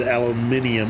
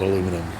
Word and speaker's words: aluminium: there you go so the guy that said originally said aluminium also was the same guy that said Alum aluminum and he did decide that aluminium was the proper way to pronounce it so the English went on that one but Americans still call it aluminum we never changed it oh what what the